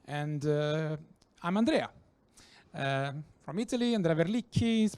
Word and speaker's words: Andrea Verlicchi: Andrea Verlicchi is pronounced, if you were thinking about to pronounce it.